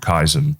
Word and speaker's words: Kaizen: But so there was a Japanese philosophy in business called Kysen, but it's spelled Kaizen, and it just means continuous improvement.